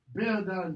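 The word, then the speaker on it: bēodan: Beodon, Beod. Notice the pronunciation. For the diphthongs, it's not be-o-don, two syllables, bea.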